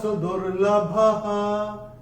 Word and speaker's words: सुदुर्लभः: और चौथे चरण में भ के बाद जो विसर्ग आ रहा है, विसर्ग चरण की समाप्ति पे आ रहा है। चरण की समाप्ति पे जब विसर्ग आएगा तो उसका उच्चारण केवल और केवल ह ही होगा।